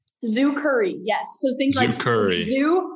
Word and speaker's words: Zukurri: i pronouncing that right zoo curry yes so thank you curry and then curry like the spice okay awesome yeah so